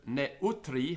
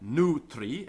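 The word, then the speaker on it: neutrius: but hnum this Kingdom notice the word neutri has three syllables according to the Latin grammarians so it's not NRI it's NE NE of NE GIS of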